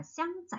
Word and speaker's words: 香: 그래서 이 향기 향자 이거 어떻게 발음하죠? 샹, 샹, 샹, 샹.